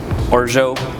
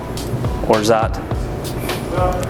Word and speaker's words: orgeat: It's orgeat, orzat, orgeat. Whichever way you want to However you pronounce want to say it.